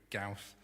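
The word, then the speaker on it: Gauss: one's by Carl friederick gon I've learned many lessons while preparing this the first is to make sure you know how to pronounce the Nam so we're going with KL Friedrich gaus he said when our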